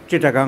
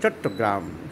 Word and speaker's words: চট্টগ্রাম: এখন চিটাগাং নয়, চট্টগ্রাম। সাহেবরা উচ্চারণ করতে পারতো না।